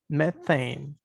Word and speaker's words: methane: Methane. Butane, methane. La E va más larga, methane.